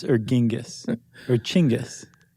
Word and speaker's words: Genghis: You pronounce it chingis.